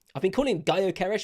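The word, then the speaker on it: Gyökeres: it up front y yeres I've been calling him goeres apparently if you don't pronounce the G yeres who knows whether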